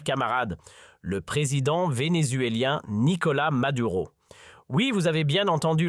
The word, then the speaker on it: Maduro: le président vénézuélien Nicolas Madura. Oui, vous avez bien entendu leurs camarades et ici on s'en tiendra à la prononciation bien de chez nous Nicolas Maduro à la française tout au long de nos épisodes.